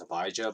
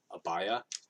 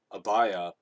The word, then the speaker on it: Abijah: pronouns his name is hibaijo but i think it's actually pronounced abaya uh the j is actually no that's because a lot of these names you know the j is like a y sound but anyway abaya was